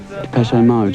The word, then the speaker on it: Depeche Mode: And mode is just the word for fashion in French. Depeche Mode. And we just decided we liked the sound of that name. And we chopped off the accent and we just kept the pronunciation.